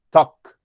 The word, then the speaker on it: talk: Y en el caso de la palabra talking, hay que recordar que la palabra talk suena como si fuera una O, talk.